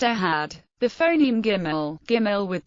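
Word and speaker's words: אחד: th in this thus the word one in Shima Israel is always pronounced aad the phon giml giml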